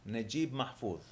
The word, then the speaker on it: Naguib Mahfouz: How do you pronounce author, that name? Naguib Mahfouz.